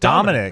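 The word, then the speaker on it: Damonic: So it's spelled with a D-A-M-O-N-I-C, but it's just Dominic Williams.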